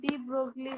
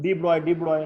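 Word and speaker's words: de Broglie: अब डी ब्रोगली को ना कैसे ब्रो pronounce डी ब्रॉय नॉट डी ब्रोगली, मत बोल लो खांसेगा।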